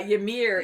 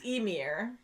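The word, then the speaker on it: Ymir: away and then yeah yamir is emir and uh yeah and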